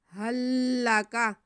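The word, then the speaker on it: هل لك: है फल हल्ला का यहां पर हमारे पास दो लाम है पहला साकिन है दूसरा मुसद है तो हम पहले लाम को साइलेंट करते हुए दूसरे लाम को पढ़ लेंगे हा को लाम के साथ मिला देंगे हल्ला का हल्ला का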